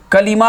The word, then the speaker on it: کلمہ: بولا گیا، اب یہ کلمہ ہے، یاد رکھیں صحیح تلفظ کلمہ ہے، کلمہ نہیں ہو سکتا، کلمہ۔ تو کلمے کی یہ 3 قسمیں ہوتی ہیں، کتنی بولیے؟